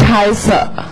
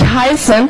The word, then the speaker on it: heiße: But for you as learners, it's easier to pronounce it in the beginning, because if you don't pronounce it, you will not know how to write it. So in this case, it's like, ich heiße. Ich heiße. Right, ich heiße. Ich heiße. And don't say ich heißen from the very, very beginning.